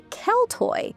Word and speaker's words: Celt: Over time, Roman and Greek writers began referring more often to tribal societies they called the Keltoy. So, we pronounce it Kelt.